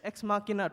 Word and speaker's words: Ex Machina: Ex Machina 2015. Is that the right pronunciation?